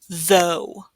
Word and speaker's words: though: This is though, though. T-H-O-U-G-H is though. Again, same spelling, different pronunciation.